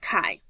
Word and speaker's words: chi: The symbol for chi-squared, it looks kind of like an X, but it's pronounced chi.